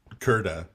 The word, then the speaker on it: Kirta: Well, Keret or Kirta, if you want to be. Kirta.